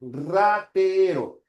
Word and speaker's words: ratero: En ratero. La primera R es una vibrante múltiple, ratero, y la segunda es una vibrante simple, ya sería así.